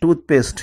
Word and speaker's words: toothpaste: For example, toothpaste. In toothpaste, there are two words, toothpaste, but it is a single word, so it takes stress on the beginning only.